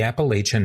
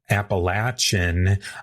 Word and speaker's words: Appalachian: Some say Appalachin, others say Appalachian. I'll be sticking with the Appalachian pronunciation myself.